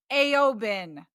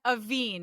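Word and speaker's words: Aoibhín: I would have said Dara, Aofi, and Aobin. They're really pronounced Dara, Aoife, and Aveen.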